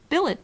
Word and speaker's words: billet: mind scene melom mankind Billet does not rhyme with ballet bouquet wallet Mallet Chalet